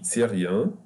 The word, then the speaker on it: syrien: Je suis syrien. The Y here will be pronounced like Hani, like the Y at the end. It will be E, like the letter I in English.